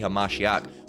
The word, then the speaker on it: Hamashiach: He is the Hamashiach, which is a correct Hebrew pronunciation, all right, and way to say, you know, that word Christ,